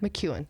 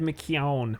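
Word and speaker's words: McKeown: essentialism yeah by greg mcewen mcewen i said mckeon but i don't think anyone knows what that means so it's mcewen yeah this is something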